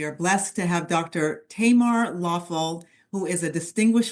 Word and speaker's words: Tamar: My name is pronounced Tamar with a short A.